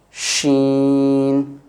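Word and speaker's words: ش: And again with SH, sheen, sh, this sound, sheen.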